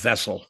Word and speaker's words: Wessel: Of course, in German, it's pronounced Wessel.